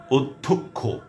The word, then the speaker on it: অধ্যক্ষ: আপনারা খেয়াল করুন যে শুরুর অটি সব ক্ষেত্রে ও হয়ে যাচ্ছে। শুরুতে অ আছে, সেটা স্বতন্ত্র অ কিংবা ব্যঞ্জনে যুক্ত অ। তো আরও বলছি, বন্যা, অধ্যক্ষ, অভ্যাগত, কথ্য, পথ্য, সত্য,